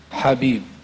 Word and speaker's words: حبیب: بھی پڑھا جاتا ہے, جب یہ جو حلوہ جس سے لکھا جاتا ہے یہ حلق سے نکلتا ہے حبیب, اللہم جو ہے وہ سین سے نکلے گا.